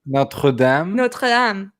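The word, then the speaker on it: Notre-Dame: are about to say it right notre dame notre dame but or no or not notre dame notre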